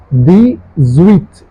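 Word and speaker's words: dix-huit: So how do you pronounce it? The zweit.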